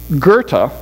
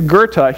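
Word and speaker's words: Goethe: you've ever read uh Gerta I believe is the way you pronounce it goe t h e you'll have to forgive my my German but I think it's Gerta he writ writes this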